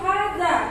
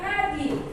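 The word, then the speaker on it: هذا: Itu hadza bukan hadi bacanya ya.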